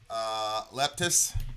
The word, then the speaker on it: Leptis: How do you pronounce that band, would you say? Leptis.